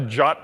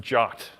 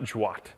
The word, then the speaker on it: JWT: I know that like the first sentence of the spec says you pronounce this jot I guess they just really didn't want to have like the GIF versus GIF controversy so it's jot not jwat so I